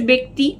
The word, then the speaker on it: ব্যক্তি: না এইটা মনে রাখবে ব্যা বে এই বে উচ্চারণটাই এটার ব্যা হয় না এটার বে হয়